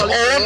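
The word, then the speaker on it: Eoghan: My name is Owen, E-O-G-H-A-N. A lot of silent letters in the Irish language.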